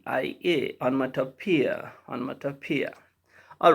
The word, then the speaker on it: onomatopoeia: the expressions of onomatopoeia onomatopoeia okay the pronunciation is on mata pia and the spelling is